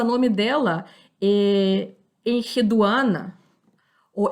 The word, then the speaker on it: Enheduana: nós o nome dela, Enheduana, ou Eneduana. Esse H, muitas vezes, quando a gente lê um nome antigo, ele se pronuncia com som ré, com aquele sopro, né, que nem nas línguas árabes.